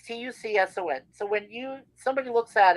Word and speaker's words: Tucson: Like, Well, yeah, it's very easy, like because the C is silent, right? It's Tucson.